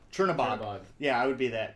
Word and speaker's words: Chernabog: can't pronounce it right. The Chernobog. Chernabog.